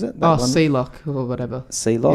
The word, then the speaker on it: Seloc: Sealock. It's spelled Sealock, SELOC.